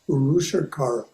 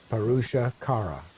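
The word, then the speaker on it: Purushakara: So if I pronounce it like the two words were separate, I'd be okay, right? Parusha Kara.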